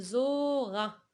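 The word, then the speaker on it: Zohra: La même chose ici, il y a un H muet, on ne le prononce pas, on dit zora.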